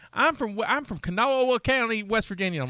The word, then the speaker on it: Kanawha: say how can i how the locals say kanawha like no right it's kanaz it looks like kanawa because it's an indian word but you know how